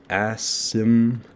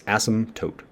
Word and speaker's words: asymptote: that is spelled it's asymptote the p is silent don't say this this